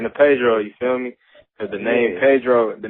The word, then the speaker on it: Paidro: like that's where that's where the name Pedro come from and I spell it P a i d r o feel me that's pretty